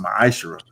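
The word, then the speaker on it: ma'aser: 21 and Malachi 38-10 means 10th in Hebrew and is pronounced maish 10% of every penny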